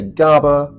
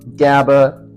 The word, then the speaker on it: GABA: what does Gaba do so some people say Gaba Gaba doesn't matter how you say it it is a neurotransmitter